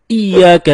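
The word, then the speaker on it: إياك: Nah, kesalahan ketiga teman-teman, ketika kita membaca Iyyaka na'budu wa iyyaka nasta'in. Ada yang membacanya dengan Iyyaka, tidak menekan huruf ya. Seperti sebagaimana kita jelaskan tadi bahwa penekanan itu dapat merubah makna.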